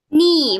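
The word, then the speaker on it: knee: Nih bacanya K sama N. K-nya silent jadi ni lutut.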